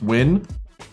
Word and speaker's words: Nguyen: Is pronounced win?